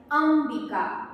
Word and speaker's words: अंबिका: शब्द उच्चार करणार आहे तेव्हा उच्चार होणार आहे अंबिका अंब ह्याच्यामध्ये म चा उच्चार आलेला आहे आणि जेव्हा हा शब्द